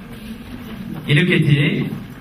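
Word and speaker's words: iniquity: 이니퀴티. 이니퀴티. 큐티가 아니고요. 이니퀴티.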